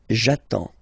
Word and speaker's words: j'attends: So the first form will be j'attends, j'attends. Okay, you get D and S, well basically you don't pronounce them, okay, and then you get only the sound attends, nasal here, en, j'attends, okay.